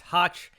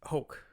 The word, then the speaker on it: Hoch: instagram handle at hoke uh i'll spell it for you it's b-r-y-a-n-h-o-c-h i know looks like it's might be pronounced hatch but it's pronounced hoke so it rhymes with coke as he says as